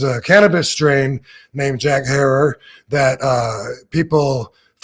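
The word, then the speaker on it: Herer: uh everywhere you go depending on where you're at they say it different from Jack her but he used to tell me think of Terror and he told me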